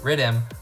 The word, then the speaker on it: riddim: of the same name riddim which is the jamaican pronunciation for the word rhythm to be clear what